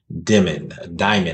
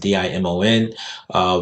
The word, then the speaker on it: Dimon: And this is from JP Morgan Chase CEO Jamie Dimon, I believe that's how you pronounce it, Dimon, wrote in his annual shareholder letter.